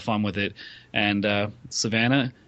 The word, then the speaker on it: Savannah: And uh Savannah, it rhymes with banana.